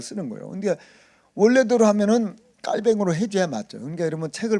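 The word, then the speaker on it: Calvin: 그래서 우리는 칼빈 이렇게 말하잖아요. 칼빈. 요거 이제 미국식 발음 아닙니까? 이제 원래 프랑스식으로 하면 깔뱅이죠. 그래서 어떤 책에 보면 깔뱅 이렇게 얘기하잖아요. 그 원래는 그렇게 읽어줘야 되는 거죠. 왜냐하면 프랑스 사람이니까 깔뱅 해줘야 맞는데 우리는 옛날부터 어른들이 프랑스어를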